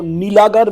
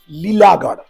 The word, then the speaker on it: लीलागढ़: पहले मैं बोल लेता हूं, मैं आपको नीलागर बोल के इसको बताया गया है, लेकिन एक्चुअली इधर का प्रोनाउंसिएशन जो है लीलागढ़।